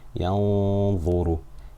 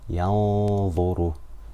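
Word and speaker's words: يَنظُرُ: Yanzuru, Yanzuru, Yanzuru. So I'm making Ghunna for 2 harakat. I'm pronouncing the Noon from my nose, but I'm not fully pronouncing it.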